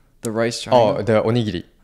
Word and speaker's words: onigiri: Oh, the onigiri. How do you say it? Onigiri. Onigiri?